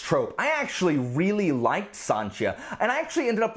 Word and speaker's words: Sancia: main character here is a a thief named sanchia and it looks like sancia which is what